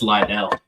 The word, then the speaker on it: Lydell: And it's Lydell, not.